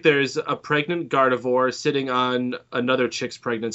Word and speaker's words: Gardevoir: God of War? Is that how you say it? Gardevoir.